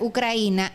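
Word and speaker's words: Украина: Y de hecho, la palabra Ucrania, que en ruso se pronuncia Ucraina, lo que significa es tierra limítrofe, el borde.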